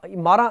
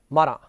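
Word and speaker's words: Marat: Robespierre, तो इसमें एक नाम आया रॉब्सपियर का, और दूसरा ये मारा इसका प्रोनाउंसिएशन है, मारा।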